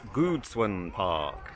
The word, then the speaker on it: Gucun Park: I've been pronouncing it wrong, of course. It's Gucun Park.